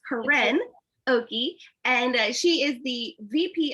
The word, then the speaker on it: Koryn Okey: It's Koryn Okey.